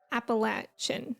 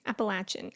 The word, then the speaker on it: Appalachia: crowns feels very appal Appalachian Appalachian I agree I think people in Appalachia say it like Appalachia but I was born and raised to say it as Appalachia uh there's about to